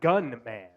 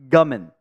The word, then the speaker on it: Gummin: Well, I thought it was Gunman. Gummin.